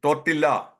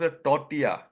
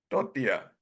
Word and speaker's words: tortilla: used to pronounce initially tortilla no the L is silent and it should be pronounced tortia should be pronounced Toria what about the next